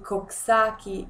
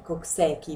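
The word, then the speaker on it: Coxsackie: genere appartengono diversi virus i koksaki virus o meglio Si si dice keki la pronuncia Cocchi virus Gli ecov virus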